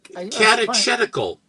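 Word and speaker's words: Catechetical: Um, is that how you pronounce it? Yeah. Oh, it's not cat. Katetical. It's tedical. I had no idea. I always mispronounced it.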